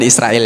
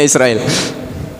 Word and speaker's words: Israil: dengan Bani Israil Israel bacanya Israel Pak ya bukan Israel ya bacanya Israil ini yang nantinya jadi